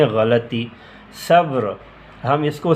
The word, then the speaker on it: غلطی: درست تلفظ یہ ہے۔ غلطی، ہم اس کو غلطی بولتے ہیں، حالانکہ ہے غلطی۔ صبر، ہم اس کو